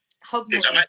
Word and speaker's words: Hogmanay: Now, Hogmanay, I don't know if I'm pronouncing it correctly. Yes, it is. Yeah, it's Hogmanay. Did I pronounce it correctly?